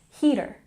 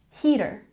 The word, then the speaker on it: heater: when you pronounce heater make sure to emphasize the first first syllable heater heater okay the next category